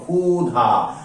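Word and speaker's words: ক্ষুধা: বলেছিলাম এর উচ্চারণটা করবো খ তাই এই দেখো খু ধা অর্থাৎ এর উচ্চারণ খু ধা ঠিক তার মানে আরেকটা বানান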